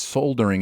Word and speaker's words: soldering: the comment is just soldering is pronounced soldering silent el yo you get a